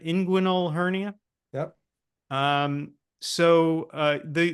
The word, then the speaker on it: inguinal: a a hernia a right side am I pronouncing it right inguinal hernia yep um so the the whole food